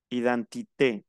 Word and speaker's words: identité: Identité. Termina en E y tiene tilde, se pronuncia la E.